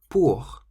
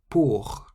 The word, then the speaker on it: pour: Pour. Pour means for, and you can hear the R on the end. The R on the end of a word in French sounds almost like a harsh H sound.